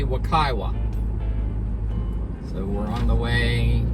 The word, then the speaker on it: Wekiwa: springs to the campground we stopped and asked another ranger and i guess the pronunciation is supposed to be wakaiwa so we're on the